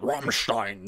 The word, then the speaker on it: Rammstein: You gotta say it like the Germans would say it. Rammstein.